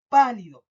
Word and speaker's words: pálido: Por ejemplo, pálido. Pálido. Marco mal la voz en pálido. Pálido. No es lo mismo decir pálido o pálido que pálido. ¿Ya? Ahí marco más la fuerza yo al nombrar la palabra.